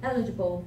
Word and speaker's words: eligible: overtime you won't be eligible for the words this word I oftenly I haven't heard people say the electrical budget stress is in the first syllable eligible and the main attraction of